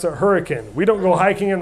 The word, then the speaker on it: Hurricane: a city in southern Utah spelled hurricane we pronounce it hurricane we don't go hiking in the mountains go